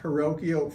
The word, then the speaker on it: Hrywkiw: Full name, Roth, Hrywkiw, Fidek, LLP.